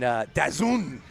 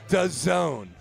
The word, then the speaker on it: DAZN: And Dazun, is that how you pronounce it again?